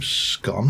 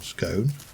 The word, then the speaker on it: scone: on a clotted cream scone or scone. Take your choice on how you pronounce that. I'm not going to get involved in that argument. Even the Oxford English Dictionary won't take sides on that one. They quite clearly state that either pronunciation is valid, so probably a wise